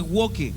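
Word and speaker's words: woke: Y aquí tenemos la agenda w o la ideología w se escribe walk w e o k e.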